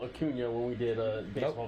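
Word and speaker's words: Acuña: but you couldn't even spell Acuna when we did a baseball video. False. Wrong. You forgot the tilde. I did not forget the tilde. Tilde. How could you forget the tilde? It's in Acuna, not Acuna.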